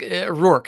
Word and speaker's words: Roark: Think Roark. Think about the word roar Roark. with a K on the end of it. Roark.